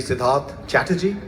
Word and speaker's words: Siddharth Chatterjee: It's actually Siddharth Chatterjee, but Sid is easier to remember.